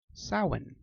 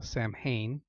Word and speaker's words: Samhain: the darker okay the first sabot is a salmon often mispronounced as Samhain Christians tend to know this as Halloween now salan means end of summer or summer's end and